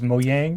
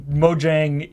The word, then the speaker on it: Mojang: I personally have never heard anybody ever pronounce it as Mojang.